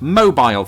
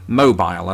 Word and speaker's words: mobile: me say it, because I say mobile, as I said, but Americans, they like to say mobile when referring to things that move or to the phone itself.